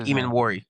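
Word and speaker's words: Emmanwori: Nick Eman Worry.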